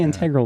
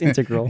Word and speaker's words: integral: integral i always integral i always say integral but it's not it's integral yeah did i miss